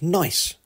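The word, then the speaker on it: gneiss: temperatures too this rock is formed pronounced nice the shist is metamorphosed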